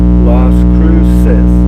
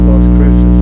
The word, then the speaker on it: Las Cruces: If I mispronounce something, it's okay. But thank you for correcting me. Las Cruces. Las Cruces.